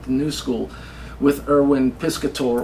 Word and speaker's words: Piscator: new school with Irwin piscator or piscat I don't know how you pronounce that name Elaine strich pronounces his name piscat and she studied with him so I'm deferring to m Rich yeah so I'll call him piscat but Robert Lewis uh